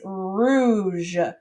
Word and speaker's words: rouge: all right and so this one is pronounced like rue and then je all right our next